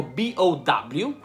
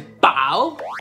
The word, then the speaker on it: bow: Poi abbiamo B-O-W, che si legge bow, che significa inchinarsi. Oppure abbiamo, sempre B-O-W, bow, che è la bow tie, che è il farfallino.